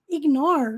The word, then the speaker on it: ignore: exemplo Ignore all my Ignore nós não pronunciamos a letra E então esse R naturalmente